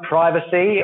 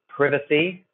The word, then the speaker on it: privacy: the horizon next one privacy or is sometimes pronounced privacy and means that you are